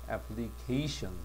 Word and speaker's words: application: 근데 여기서는 cation이야. K로 발음하죠, 그지? 그래서 강세도 이건 앞에 있어. applicant. 요거는 뒤에 있지. application.